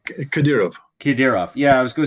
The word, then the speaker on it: Kadyrov: Kadyrov.